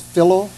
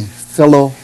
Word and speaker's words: Philo: and his name is phillo lorne harris phillip that rhymes with pillow okay but not philo but not filo no but it's spelled the same way as follow p-h-i-l-o anyway he named his